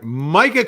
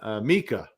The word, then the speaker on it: Micah: Micah, pronounced Micah. Look at that. I might have been saying Mika, but it's Micah.